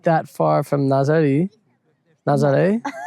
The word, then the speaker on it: Nazaré: Nazaré Nazaré If you watched yesterday you'll know how to say it.